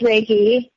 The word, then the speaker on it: Reiki: It is pronounced Reiki.